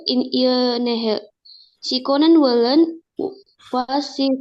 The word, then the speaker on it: Nähe: Enggak Nähe tapi Nähe. Bacanya Y jadinya.